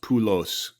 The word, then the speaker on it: Poulos: kid don't let him kid you people it's pronounced pulos I I I declared that in 2007 Greek